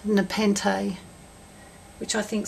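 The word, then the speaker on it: nepenthe: I looked it up and it's actually pronounced Nepente, which I think sounds nice.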